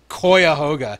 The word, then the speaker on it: Cuyahoga: one only and original Koya hoga it's pronounced like that cuyahoga is a place I oh that's [